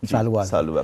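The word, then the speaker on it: सालुव: दूसरा खानदान है सुलवा खानदान, सालुआ जिसको सही प्रोनाउंसिएशन सालुआ खानदान।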